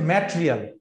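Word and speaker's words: material: এটার কারেক্ট উচ্চারণ হচ্ছে ম্যাটেরিয়াল। এটা উচ্চারণ ম্যাটেরিয়াল, ম্যাটেরিয়াল, right, ম্যাটেরিয়াল, right, ম্যাটেরিয়াল, ম্যাটেরিয়াল। ই বলবো না, ম্যাটেরিয়াল বলবো না, ম্যাটে বলবো না, বলবো ম্যাট, ম্যাটে বলবো না, বলবো ম্যাট, ম্যাটেরিয়াল।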